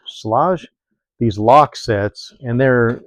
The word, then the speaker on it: Schlage: Found these um I think you pronounce that Schlage, Schlage.